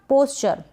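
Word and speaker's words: posture: पोस्चर यहाँ पर ये जो ओ है इसको ओ लिखा जा रहा है, यानी ओ की मात्रा के रूप में इस ओ को हम लिख रहे हैं प के ऊपर, क्योंकि पी का प बन गया ना।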